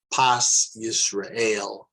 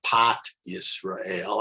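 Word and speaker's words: פת ישראל: That's called Pas Yisrael, or in modern Hebrew, Pat Yisrael. I like to say Pas Yisrael because Pat Yisrael is spelled P-A-T, and people could say, oh no, is this Pat Israel? No, it doesn't sound so good.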